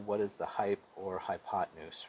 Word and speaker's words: hypotenuse: can actually spell this word but you're gonna pronounce it hypotenuse hypotenuse has two characteristics it's the longest side